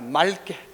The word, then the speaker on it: 맑게: 맑게가 아니라 날이 맑게가 아니라 맑게, 맑게라고 발음해야 된다.